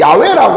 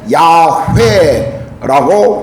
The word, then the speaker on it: 야훼: 또 가톨릭과 개신교가 함께 번역한 공동 번역을 보면 야훼라고 번역하고 있습니다. 이 마지막 단어의 회는 원래 시브리어의 마지막 회는 묵음입니다.